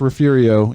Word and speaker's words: Refugio: refugio that's gonna be a big game yes it's it is pronounced refugio even though it's build re f ug io Poston refugio to a division 1 7 o'clock